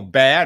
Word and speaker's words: Baer: guest today uh Neil bow uh or Neil be not bow it sounds like bow B- a r but pronounced be is a trained doctor